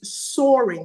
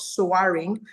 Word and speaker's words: soaring: And then the word is soaring, not saring, which is a long monopong and gives you the o sound.